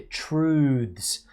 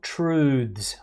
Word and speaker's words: truths: Okay, be careful with the pronunciation of that word there, truths. The singular form is truth and the plural truths.